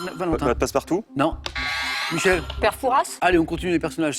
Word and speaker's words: Fouras: Le père Fouras. Alors, les puristes ne prononcent pas le S à la fin.